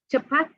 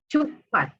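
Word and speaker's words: cepat: Chapat is quick. And in Sri Lanka, we would say chupat. And in Sri Lanka, most likely you will find it spelled with a CH because it is the anglicized spelling that most Sri Lankans are familiar with.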